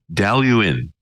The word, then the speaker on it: Dailuaine: for that and this particular one is uh delu in now there's a lot more letters in the